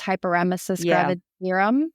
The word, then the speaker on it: hyperemesis gravidarum: meaning like they had, I believe it's pronounced hyperemesis gravidarum.